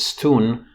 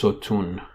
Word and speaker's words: sotun: originally Stone and nowadays the word is not pronounced Stone it's pronounced sotun again a word medial